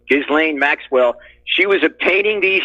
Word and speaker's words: Ghislaine: she was the one that's just lame I'm pronouncing her name right Ghislaine Maxwell she was obtaining these young girls for